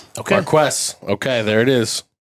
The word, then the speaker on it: Marques: Oh, do you have the pronunciation pulled up here? Pause for one second. Marques Watson. Marques. Marquest.